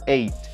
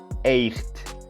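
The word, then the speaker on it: eight: For this number, you omit pronouncing the G sound. Most people may say echt, echt, but it is completely incorrect. Listen, incorrect, echt, correct, 8, 8. Listen again, echt, 8.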